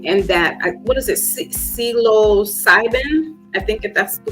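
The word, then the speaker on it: psilocybin: about it um and that what is it celo cybin I think if that's the way I'm gonna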